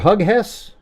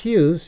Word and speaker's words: Hughes: You know my people I've actually had people pronounce my last name Hughes Hug Hugghess. Hey Mr. Hugghess or Hugis? No it's just Hughes.